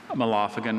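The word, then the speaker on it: mallophagan: Malophagan. Can you please give me all the information? Certainly. Malophagan is an insect of an order of secondarily wingless insects comprising the bird lice. Malophagan was formed in Latin from originally Greek elements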